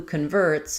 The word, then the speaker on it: convert: So now just like we had before instead of con uh we're going to have letter O saying the a vowel first syllable stress in the noun.